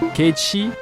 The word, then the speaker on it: Cait Sith: moyen Vincent c'est un vampire qui s'assume pas ke parce que c'est comme ça qu'on prononce en vrai c'est un chat qui parle